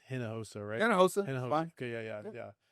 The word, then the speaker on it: Hinojosa: Um it is pronounced henosa rightosa. Okay. Yeah. Yeah. Yeah. Is it fun or is it correct? No it's it's like h is kind of like silent and like inos.